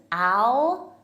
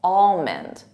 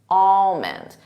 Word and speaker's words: almond: of for native speakers I hear almond Al but it's not Al it's all almond almond and the emphasis is on that all almond repeat that almond